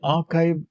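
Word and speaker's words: arXiv: For this we will use the archive database. It is a rxib pronounced as archive.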